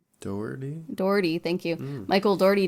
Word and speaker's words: Dougherty: Dougherty, thank you.